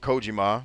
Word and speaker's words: Kojima: like platinum games like kojima or kojima depending on how you want to pronounce i think kojima is accurate if you're saying in japanese i think kojima is acceptable if you're doing an anglo-saxon style but the point is